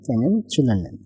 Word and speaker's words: kennenzulernen: তো শোন ডিক ক্যানেন চুলার নেন, জেড থাকলে ছয়ের মতো উচ্চারণ হয়, ক্যানেন চুলার নেন। তো এটা মানে হচ্ছে আই এম লওয়া, নাইস টু মিট ইউ, ঠিক আছে।